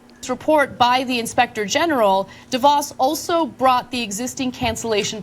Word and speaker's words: DeVos: Do we have mispronounces? It's DeVos.